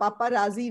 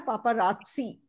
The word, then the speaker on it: paparazzi: ha, paparazzi nahi hai, uski pronunciation hai paparazzi.